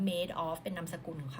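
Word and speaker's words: Madoff: คะ ที่ ชื่อ ว่า สะกด เหมือน คำ ว่า mad of m a d o ff นะ คะ แต่ ว่า อ่าน ว่า Made of เป็น นาม สกุล ของ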